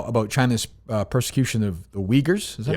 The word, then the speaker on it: Uyghurs: Yeah, how do you pronounce it? I always get it wrong. Uyghurs.